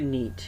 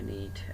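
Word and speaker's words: knit: সো একইভাবে নিট, খেইটাকে বাদ দিয়ে দিলে নিট।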